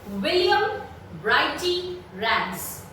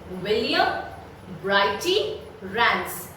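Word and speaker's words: William Brighty Rands: The poet of this poem is William Brighty Rance. That is the pronunciation. Let me repeat it for you. William Brighty Rance.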